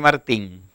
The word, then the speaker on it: Martí: Usted sabe que a mí todo el mundo me dice Martín. Entonces cuando me pregunto, ¿cuándo? Martí es mi nombre, sin la N y acento en la I.